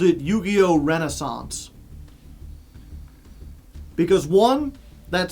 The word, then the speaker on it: Renaissance: It's pronounced Renaissance, but it's got the AI. It's got two S's and a silent C.